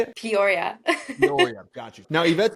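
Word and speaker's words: Peoria: that's at but how do you say it Poria Poria got you now iet's been uh working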